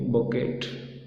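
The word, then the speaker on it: bouquet: They are also use to make बोकेट, बोकेट बनाया होता है।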